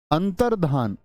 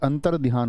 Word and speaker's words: अंतर्धान: है कोई दिक्कत अंतर्धान अब यह जो शब्द होता है हमारा यह अंतरध्यान होता है क्या बोलोगे बहुत सारे दोस्त क्या बोलेंगे इसको अंतर अंतर ध्यान ऐसी ध्वनि निकाल लेते हैं लेकिन अंतर ध्यान नहीं होता अंतर धान होता है बहुत इंपोर्टेंट वर्ड है